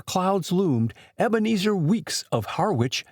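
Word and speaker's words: Harwich: Haritch in England. Harwitch here. Haritch is the way it is mouthed in the seapport town of Essex County, England. The Harwitch of Cape Cod is pronounced Harwitch.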